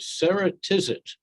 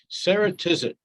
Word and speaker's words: Ceratizit: by the name of sarah tisit and it only took me 20 minutes to make sure that i said it right the first time sarah tizit it's really kind of